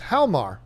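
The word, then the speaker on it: Hjalmar: The J is silent, so it's Halmar Vargas.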